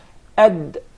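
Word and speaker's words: د: Ad. Ad. Ad is from just behind the teeth. Okay. Does the tongue have anything to do with the pronunciation of the Dal? Yeah, Definitely. Which part of the tongue?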